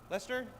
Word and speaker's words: Leicester: How do you say, is that Leicester? Lester.